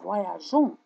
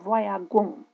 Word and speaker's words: voyageons: persoană întâi plural, noi, on doit intercaler un E. Trebuie să intercalăm un E pour pouvoir prononcer J, ca să putem să pronunțăm J. Nous voyageons, nous voyageons, noi călătorim. Si on oublie le E, dacă uităm E-ul, on prononce nous voyagons, nous voyagons. Et ce n'est pas correct.